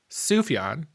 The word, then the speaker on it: Sufjan: Su is Sufi stevies you might you might mispronounce it because it's written Sufjan but if you say that out loud in front of people you're probably G to get judged yeah sufan sufan Stevens he's a musical artist